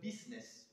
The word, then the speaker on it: business: look for instance at the word business we notice that the you comes before the eye in the spelling of business we also notice that the eye is silent this could be a